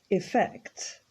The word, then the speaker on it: effect: Effect. And notice again that the emphasis is on the second syllable, so we don't say effect, it's effect.